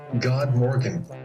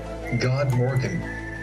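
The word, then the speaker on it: god morgon: that usn good morning well in Swedish good morning is pronounced god morgen wait does is make mr.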